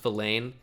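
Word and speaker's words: Vilain: I think it is pronounced Villain, real-life player, but it's an all-time name.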